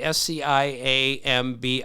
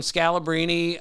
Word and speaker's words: Sciambi: He says, my name has been mispronounced, John Sciambi, Sciambi. I think I've got that right. Not important. You have it right. Yeah. Right. And he said, I've gotten Scalabrini. I've gotten so many. Scampi, right.